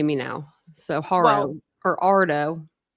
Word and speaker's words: Haro: Okay, but it's Mexican. So it's it's Ardo. Ardo.